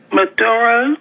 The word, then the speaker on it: Maduro: I'm glad that I tuned in because when I was looking at the arrest of Maduro, Right. am I pronouncing it right?